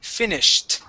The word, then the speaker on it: finished: So, we're going to say finished. Finished. Try that. Finished. Um finished. Finished. Okay. Give me a short I sound. So, instead of saying fine, we want to say finished. Finished.